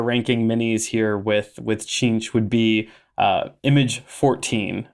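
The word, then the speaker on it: Tzeentch: right in here so let's move on to chinch which is spelled t-z-e-e-m-t-c-h a so so chinch uh is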